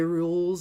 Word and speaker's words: K. Rool: K Rules is really good. Rule? Yeah, that's how you say it.